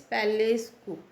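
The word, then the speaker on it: palace coup: इसको भी देखिए, कई बार बच्चे जिसका जो प्रोनाउंसिएशन है वो कम्प्लीटली रॉन्ग करते हैं और उसको पी जो है वो उसको प्रोनाउंस कर देते हैं, बल्कि इसमें पी का कोई प्रोनाउंसिएशन नहीं है। पैलेस कू मीन्स अगर हम इसको प्रोनाउंस करेंगे तो के सी डबल ओ पी को हम प्रोनाउंस करेंगे के डबल ओ, इस वजह से हम इसको प्रोनाउंस करेंगे पैलेस कू।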